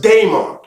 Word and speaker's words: daimon: to talk about a diamon all right and not just a demon sometimes you'll hear it pronounced Damon all right with the D AE or the d a i okay English language vowels